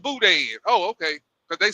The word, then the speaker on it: boudin: stuff down there called boudin. I was saying it wrong when I first got down there. I would call it booty. Give me some of that booty. It's called boudin.